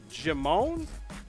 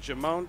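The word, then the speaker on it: Djimon: when our homie uh jimon I think the D is silent jamone Titus is his name in the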